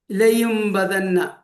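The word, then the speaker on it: لَيُنبَذَنَّ: അവിടെ മീമിന്റെ ഉച്ചാരണമാണ് കേൾക്കുക, നൂനിൻ്റേത് കേൾക്കുകയില്ല, തൻവീനിൻ്റേത് കേൾക്കുകയില്ല. ഇനി ഉദാഹരണത്തിലേക്ക് നോക്കാം, അതൊന്ന് സൂം ചെയ്യാം. ഓക്കെ, അവിടെ ലയും ബദന്ന, അവിടെ ലയുൻ ഒരു സാക്കിനാനൂൻ വന്നിരിക്കുന്നു, ശേഷം ബ ആണ്. അപ്പൊ അവിടെ ലയുൻ ബദന്ന എന്ന് ഓതാൻ പാടില്ല.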